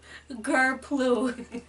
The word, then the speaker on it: grplue: So the first word of the day is grplue We have the phonetic pronunciation Oh, yeah, in case you're struggling It's pronounced gur-ploo yep, and it's spelled GRPLUE and the defin